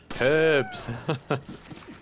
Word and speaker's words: herb: yeah no hate you herbs I do I do often say herb I make it a I usually try and pronounce the h uh you want to